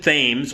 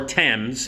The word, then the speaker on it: Thames: old, played by Mason Thames, or Thames if he has the British pronunciation of the river, and Madeline McGraw.